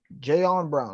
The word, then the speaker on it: Jayon Brown: Bud Dupree from the Steelers and Jayon Brown.